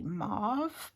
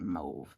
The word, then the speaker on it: mauve: in the Moody move now I know some of our American friends pronounce it Moody mauve but for me I've always pronounced it move I don't know if